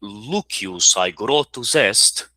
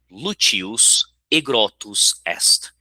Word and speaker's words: Lucius aegrotus est: Então, nesse caso, em vez de Lucius aegrotus est, a pronúncia seria Lucius aegrotus est. Então, vejam aí a semelhança, por exemplo, com o italiano.